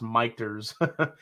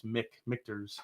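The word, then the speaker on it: Michter's: sons michael and peter it should be pronounced michters yeah i've heard that the people should but the way it's the way it's spelled it's it's mick victor's apparently uh tim corning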